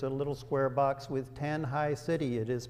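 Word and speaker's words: Tanjay: see that there's a little square box with tanh high city it is pronounced tan High it is a city of about 880,000 people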